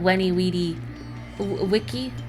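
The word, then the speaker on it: veni, vidi, vici: of people don't realize, at least in some pronunciations of Latin, that it's with a w sound, not veni vidi vici, but weni weedy wiki.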